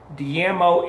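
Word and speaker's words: daimyo: see dmo in Japan that is spelled dai my Oh dmo in Japan and it's pronounced the mo the dmo were prominent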